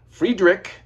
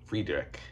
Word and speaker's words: Friedrich: some assist from Mike Friedrich no relation to Gary Friedrich and despite what Omar might tell you it is not pronounced fried Rich Fredick uh Mike Friedrich no